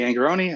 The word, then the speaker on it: Angarone: my name is angeron I do pronounce it with e at the end uh and thanks to